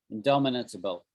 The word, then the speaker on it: indomitable: Indomitable. It's kind of a hard word to say. Indomitable. 6 syllables.